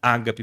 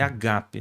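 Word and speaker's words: ἀγάπη: Ágape né primeiro que a pronúncia não é Ágape mas é agape né começa por um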